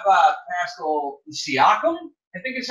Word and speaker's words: Siakam: I'm going to butcher this last name, but how about Pascal Siakam? I think is how you pronounce that? Siakam, yep.